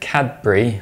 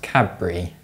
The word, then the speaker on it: Cadbury: If you said Cadbury with a D sound, you're wrong. That's because when the D sound is followed by a B sound, it changes to a B sound. So it's pronounced Cadbury with a B instead.